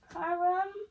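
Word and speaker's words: Chrom: This one, this CH makes a K sound. Krom. Krom. His name is Krom.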